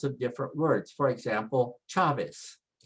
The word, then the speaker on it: Chavez: For example, Chavez. Chavez, the CH sound, and it's pronounced che. Che.